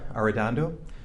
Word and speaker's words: Arradondo: each of your names yes your honor madeira are dondo first name is spelled m-e-d last name is a-r-r-a-d-o-n-d-o mr slusher